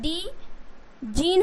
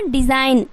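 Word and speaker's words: design: डीजन हो जाएगा okay but यहां पे क्या है जी जो है वो साइलेंट रखना है आपको क्या रखना है साइलेंट रखना है तो क्या हो जाएगा डिजाइन उसी तरीके से रे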